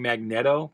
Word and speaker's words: Magneto: Some people insist on saying Magneto because it's a magnet, but a Magneto is a thing too. And I've always pronounced it Magneto, and most everyone that I hear says it Magneto.